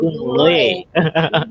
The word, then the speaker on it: Ujung Loe: Ujung Loe, itu cara bacanya Ujung Loe, gitu ya? Iya, Ujung Loe. Kalau saya salah-salah baca ini dibenarkan. Itu juga saya tertarik, Ujung Loe. Ujung itu pakai cok.